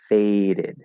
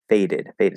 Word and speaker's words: faded: to release the d so the e d ending faded we are going to pronounce the e and that d is going to be a d and then of course that first d in fade is is tapped it's flat right faded faded so it sounds exactly like